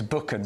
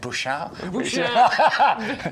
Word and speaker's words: Buchan: But it's exact Buchan, so he's one of my best friends, and his surname is Buchan. But sometimes when we're going on holiday with him, particularly cruise, he sometimes pronounce it Bouchard.